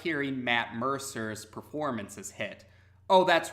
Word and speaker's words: Mercer: under the impression that his name was Matt Mercker but lately I've been hearing some videos referring